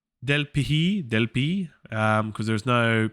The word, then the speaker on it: Delphi: tusculum is a small city and there are del pi est so a new location del p del pihi del pi because there's no ph sound in